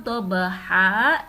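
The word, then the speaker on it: ضبحا: Ketika tidak diwaqafkan atau diwashalkan, kata dhabha ini dibaca dhabhan. Akan tetapi karena diwaqafkan atau dibaca berhenti, maka cara membacanya menjadi dhabha.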